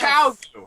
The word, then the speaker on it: Qiao Gu: Qiao Gu.